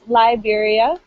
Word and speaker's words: Liberia: but you are right it's it's liberia again a long eye so good so guinea